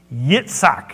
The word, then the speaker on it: Yitzhak: But Sarah, your wife, shall bear you a son, and you shall call his name Yitzhak, is how it's pronounced. It's Isaac.